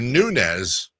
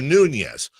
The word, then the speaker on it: Nunes: You're a Nunes, not a Nunez.